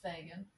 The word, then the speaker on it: Fagan: artist name is also Megan Megan Fagan Rhymes I think it's pronounced Fagan um all right so